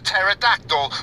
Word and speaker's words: pterodactyl: That's a pterodactyl with a silent pee.